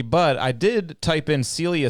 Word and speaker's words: Celia: will say one thing my name is technically pronounced Celia I don't like correcting